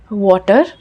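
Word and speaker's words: water: वाटर को हम बोलते हैं वाटर। लास्ट वाले आर को हम बोलते हैं वाटर। अ we drop it. हम प्रोनाउंस नहीं करते। वाटर र नहीं बोलते।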